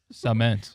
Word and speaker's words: cement: I asked Google, and Google said Cement. cement. Why S-U-H. say it like that?